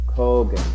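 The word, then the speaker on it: khagan: that's a good one that's not how you pronounce that's it really yes how's it pron English pronunciation how's it it's a what kogan a kogan I love it all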